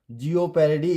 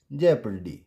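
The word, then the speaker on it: jeopardy: इट्स लेपर्ड लेपर्ड एंड इट्स नॉट जिओ पैरोडी इट्स जे पडी now country enough and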